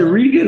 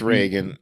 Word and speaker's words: Reagan: uh t-shirt on because is it rean or Reagan I think it's Reagan I I I know that I say it wrong all the time I just wanted get accuracy it's Reagan it's Reagan and I I think